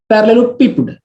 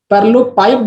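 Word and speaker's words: parallelepiped: अब यहाँ पर कोई कोई इसको ऐसे पढ़ता है पैरेललोपिप्ड, तो पैरेललोपिप्ड पढ़ते हैं, बट पैरेललोपिप्ड जो है इसका सही प्रोनाउंसिएशन नहीं है, पैरेललोपाइप्ड इसका सही प्रोनाउंसिएशन है।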